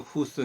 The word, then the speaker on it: 胡適: 적이라 그러죠 허적이라는 데 중국 발음으로 후 스 인데 후 쑤가 이제